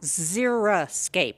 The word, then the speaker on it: xeriscape: And there is a word, it is called xeriscape. A lot of people pronounce it xeriscape. That's xeriscape. We don't want that. We want xeriscape with an I. It's xeric, drought tolerant.